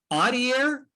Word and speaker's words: Adair: Adair?